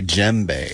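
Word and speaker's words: djembe: I am playing an African drum called a gembe spell that DJ M be e okay I've heard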